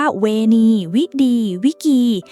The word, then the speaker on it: Veni, vidi, vici: เป๊ะ มาก เลย ค่ะ เขา ออก เสียง ว่า เวณี วิี วิกี หรือ อย่าง คำ ว่า ที่ แปล ว่า เมือง